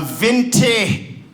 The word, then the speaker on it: venti: America a large affinity a venti well I don't even know what that means affinity but it rhymes with plenty and the small rhymes with tall do you see the dr.